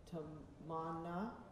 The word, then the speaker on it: Tamanna: Tamana.